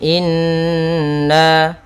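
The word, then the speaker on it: إنّا: Kemudian inna, ya, di sini juga ada gunnah. Ya, belum kami tulis, yaitu bacaan gunnah pada lafaz nun. Maka cara membacanya kita tahan in, baru ke baca na. Inna.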